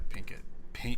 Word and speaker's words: Pinkett: Yeah, Pinkett.